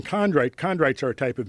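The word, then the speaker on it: chondrite: Condrite. Condrite.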